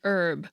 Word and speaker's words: herb: French name, Jean, and herb, with a silent H, at least in the US, and herb.